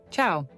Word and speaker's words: ciao: Listen carefully to the pronunciation. Ciao.